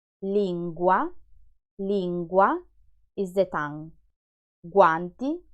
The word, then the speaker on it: guanti: Guanti, guanti means gloves. Guardare, guardare is the verb to watch. Lingua, lingua is the tongue. Guanti, guardare, lingua.